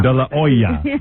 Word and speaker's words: De La Hoya: You have to say it the way it's pronounced in Mexico. How is that? De La Hoy de Laoya or something. de la oa silent etch.